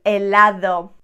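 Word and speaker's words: helado: there really are you the letter h is always silent always always silent let's do a few examples a makkah oh i want one of these ice cream elado not there we don't pronounce it illo ilo a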